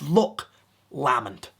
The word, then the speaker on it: Loch Lomond: you visit it, but make sure when you pronounce it, it's Loch Lomond.